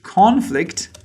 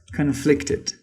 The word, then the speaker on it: conflict: Like there was a huge conflict between them. Or we can say their ideas conflicted. So as I said, as you can see, the pronunciations are different and the parts of speech are different.